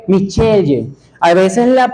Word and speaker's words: Michelle: Por ejemplo, el nombre de mi esposa, ella es Michelle, pero en otros lugares a las personas le dicen Michael, ¿ok? Michelle.